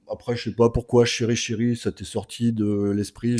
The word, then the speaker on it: CheryChery: Et chéri chéri, j'insiste, ça s'écrit c h e r y. Un seul R en deux mots, enfin deux mots collés.